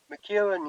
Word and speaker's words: McEwan: I don't know if I pronounced that McEwan? McEwan, you got it bang on.